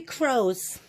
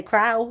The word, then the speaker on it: crow: some black crows and the word crow it's spelled like this crow wait a second misty epi' back up you just told me that that says out but you didn't say Crowell you just said you said crow yep